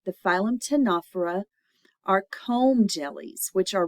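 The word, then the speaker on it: Ctenophora: skeleton then we have the phm tanur the C is silent the phym tanur are comb jellies which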